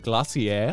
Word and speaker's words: glacier: brian's it was it glossier yes that's how you say it in britain oh no yeah the